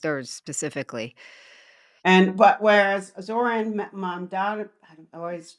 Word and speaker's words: Mamdani: And but whereas Zoran Mamdani, I always say his name wrong. That's it. How do you say his Zoran name? Mamdani. Mamdani, yeah.